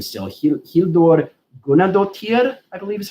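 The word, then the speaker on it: Guðnadóttir: I don't know how to pronounce her last name still. Hildur Gunnadóttir, I believe is how you pronounce her last name.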